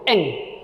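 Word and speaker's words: 円: kalau di sana tuh Yen tuh Mereka bilangnya tuh Eng cara bacanya itu Eng bukan Yen tapi Eng Heeh eng eng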